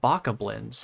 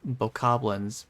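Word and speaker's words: Bokoblin: has to be pronounced Baka blinds like it couldn't be anything else know like a chicken then it's like no probably it's probably boblins because they're like goblins and that pronunciation just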